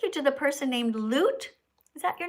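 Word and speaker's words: Lute: Uh, you you know you pronounced it right. Loot. Okay. Yeah. All right. Loot.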